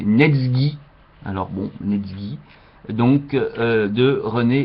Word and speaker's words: Netsuké: chinois tiré du recueil netsoue évidemment ça s'écrit netsou mais René Vivien nous signale qu'il ne faut pas prononcer ainsi mais neg alors bon donc de